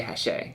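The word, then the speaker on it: Hachette: hashe yeah booth yeah it's spelled like hatchet but i'm pretty sure you say hashe we'll double check when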